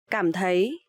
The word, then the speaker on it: cảm thấy: So here you will see the letter C. You will pronounce like letter K in English, and TH you will pronounce like th. So cảm thấy.